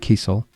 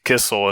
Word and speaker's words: Kisiel: Basically, it's a German last name, which I think is supposed to be Kisiel, and potentially could have been Kisielstein back in the day, but my dad's from Poland, so actually the right pronunciation from the Polish way is actually Kisiel, but it's actually, if